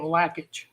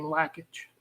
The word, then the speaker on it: Lakich: while back uh Joe lakic uh people actually I think they pronounce his name lackage lackage like a lat okay Lage what that's what his brother told me that they pronounced their name lackage lackage good deal okay